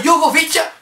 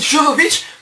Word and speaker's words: Jovovich: Bon, à la limite, pour le film, on dira que Mila Jovovich, je sais pas comment on prononce son nom, j'ai toujours dit Jovovich, mais apparemment c'est Jovovich.